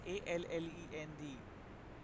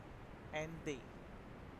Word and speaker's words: Allende: The spelling is Allende. We normally can be pronouncing Allende, but it's not like that. We have to pronounce them as Ande.